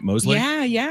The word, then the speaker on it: Mosley: That's how you pronounce the last name, right? Mosley?